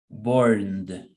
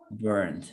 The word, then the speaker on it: burned: Se pronuncia como si al final le agregas una D. Burned. Burned. You pronounce it as in the end you add a D. Burned.